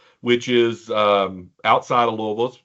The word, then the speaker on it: Louisville: yes people it's pronounced Louisville um like you've got a mouth full of marbles it's not it's not it's not Louisville no no it's not Lewisville or Louisville no it's Louisville um I grew up